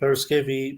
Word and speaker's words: Paraskevi: Full name, Paraskevi, meaning Friday in Greek, and you pronounce it very well.